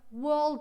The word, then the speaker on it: world: World War World War there different vowel sounds you wanna check them hold on can you see world okay world we said it's the kind of over the two dots world war it's the other one this